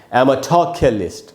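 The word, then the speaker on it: amatorculist: तो य के बाद आधा है, यानी य पर थोड़ा सा रुकना है आपको, तो इसको हम पढ़ेंगे एमेथोक्यलिस्ट।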